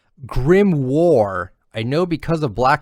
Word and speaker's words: grimoire: definitely yeah yeah for sure um grimore is pronounced grim war i know because of black clover well mister